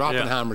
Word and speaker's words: Oppenheimer: about what's pronounced if some people say at different names but Oppenheimer is the correct pronunciation I I I will